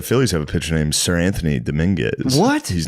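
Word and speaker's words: Seranthony: The the p the Phillies have a picture named Sir Anthony Dominguez. What? He's not a knight. Sir Anthony. How the do they do that? They spell it s e r.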